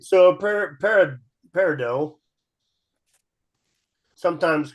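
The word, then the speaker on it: peridot: par par par yeah is silent a t par can a t be silent yes it can yep it's French oh it's French that explains French all right so par par parido sometimes called crystalite is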